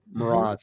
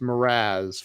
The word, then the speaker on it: Mras: Mras. And it's not pronounced Mraz for those of you that want to call her Mras.